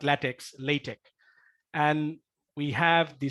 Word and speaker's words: LaTeX: that I mean yeah we pronounce and latex yeah we say latex not latex latex and we have